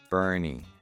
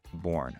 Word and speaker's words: Boerne: at some more information on Boerne, it is Boerne, not Born. Okay? The pronunciation is there on the city website.